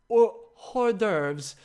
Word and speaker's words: hors d'oeuvres: I get that wrong it's French right Oh hor d'oeuvres h ors space D ' oh e UV